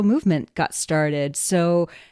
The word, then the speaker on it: MVMT: So movement um spelled MVMT but pronounced movement watches was founded on the belief that style shouldn't break the bank.